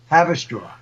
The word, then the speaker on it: Haverstraw: Haverstraw. Have a straw. Yeah. I know that's spelled with that. It's not spelled like have a straw. It's spelled differently. I know. It's Haverstraw.